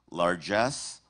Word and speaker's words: largesse: Your word has two correct pronunciations. Largesse, largesse.